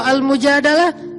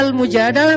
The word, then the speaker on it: Al-Mujadalah: Kalau Al-Mujadalah, curhat. Jadi tergantung kita bacanya dilah atau dalah. Kalau kita baca Mujadilah, berarti perempuan yang lagi curhat. Kalau kita baca Al-Mujadalah, berarti curhat itu sendiri.